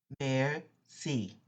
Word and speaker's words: merci: restaurant or at home mayor c mayor c the next page the word is respelled just for your pronunciation help mayor c got it you try